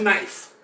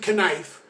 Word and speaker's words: knife: always talk about a knife okay it's a joke it's not real we don't pronounce it canife okay they just like